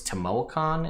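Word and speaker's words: Tamoachan: the hidden shrine of i think it's temuacon is how you're technically supposed to pronounce it it's this sort of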